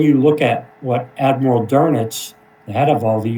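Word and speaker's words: Dönitz: And here is Admiral Carl Dernets is the way that he pronounced his last name.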